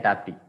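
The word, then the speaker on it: Tapti: It's pronounced as Tapi and Tapi. Okay, T-A-P-I as well as T-A-P-T-I. Both are same.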